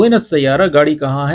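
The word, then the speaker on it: السيارة: अच्छा, गाड़ी कहाँ है, वेन सैयारा, वेन अस सैयारा, अलिफ लाम भी प्रोनाउंस किया करें वेन सैयारा की जगह, वेन अस सैयारा या अल सैयारा।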